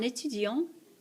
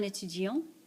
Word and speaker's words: étudiant: Un étudiant. Un étudiant. And that's a male student. Une étudiante. Une étudiante. That's a female student. Again, this letter is silent.